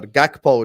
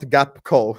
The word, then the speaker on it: Gakpo: net spend than Spurs friendly reminder gakpo not gapco M Mac hey the